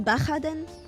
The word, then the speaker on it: Baja: And why is it pronounced Baja? It's a J in there. Baja is Spanish for short. Would that wouldn't that be Baha?